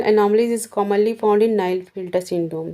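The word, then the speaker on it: Klinefelter: 87 क्या कह रहे हैं, which of the following chromosomal anomalies is a commonly found in Nile filter syndrome. ठीक है, नाइल फिल्टर बोलते हैं, इसमें के साइलेंट रहता है।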